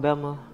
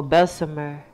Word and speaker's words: Bessemer: This here is a small town called Bessma, Alabama. Well, Bessemer is the correct way to say it. But we say Bessma.